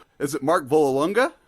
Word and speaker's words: Vollelunga: name is it Mark Vol longa how do you pronounce it that that was pretty good yeah it's it's valal longa Vala say like you're Italian there you go mark